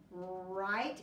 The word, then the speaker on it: write: I will tell you there is a silent letter at the beginning of that so it does not really start with the herb do you know what that silent letter is I hope you said W I write is your